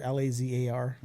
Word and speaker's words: Lazar: there about balazar it's spelled like a laser l-a-z-a-r spell like lazar not laser but bob lazar but